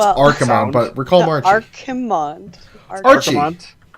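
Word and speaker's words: Archimonde: I know it's Archimond, but we're calling him Archie.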